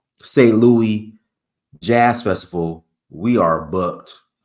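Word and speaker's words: Saint-Louis: Louis, the French pronunciation, St. Louis Jazz Festival.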